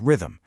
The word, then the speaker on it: rhythm: What's really cool is a word like rhythm, where the silent H is there to give some structure to a word that doesn't even have a normal vowel sound.